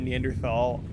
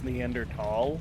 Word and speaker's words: Neanderthal: and then they said neanderthal i'm pretty sure it's pronounced in the end or tall like you don't really enunciate the h four struck at this